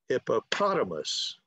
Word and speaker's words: hippopotamus: And or you could, if you're by yourself, you could clap when you get the stress. You could go hippopotamus, okay?